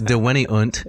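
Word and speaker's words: deveniunt: do you say it vivoact did it that's dewanyunt yeah in the same cave yeah so the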